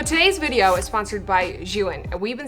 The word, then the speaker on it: Zhiyun: So today's video is sponsored by Zhiyun, and we've been saying this name wrong for 3 years.